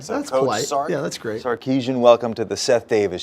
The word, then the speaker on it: Sarkisian: steve sarkeesian welcome to the set david show i want to get the pronunciation of your of your name right did